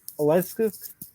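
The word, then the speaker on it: Oleksiejczuk: by sam alvey and mikhail okelusouk i believe it's pronounced okel's oleskus uh yeah i think the second way you pronounced it is right oh let's go okay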